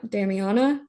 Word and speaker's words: Damiana: for that and also um I think it's pronounced Dam Damiana Damiana um but it's a very it's an